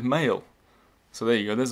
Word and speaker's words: Mayle: Mayle's. They wrote his name wrong. It's Mayle.